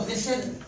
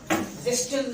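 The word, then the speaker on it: whistle: एक और एग्जाम्पल ले लें, आप सीटी बजाते हैं तो आप कहते हो विसल, विस्टल नहीं पढ़ते आप।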